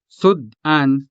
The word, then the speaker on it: sud-an: This word has two syllables, sud and an. Sud is a closed syllable because it ends in a consonant. The second syllable, an, is a two-letter syllable beginning with a vowel, a.